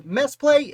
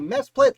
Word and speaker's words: Mesplet: I believe his name is pronounced Mesplet. It might be Mesplet. Let me know in the comments if I'm doing it wrong, but Mesplet was born